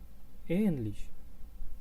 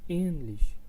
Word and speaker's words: ähnlich: Ähnlich, I will pronounce them once more. Äpfel and ähnlich, Äpfel and ähnlich, which means apples.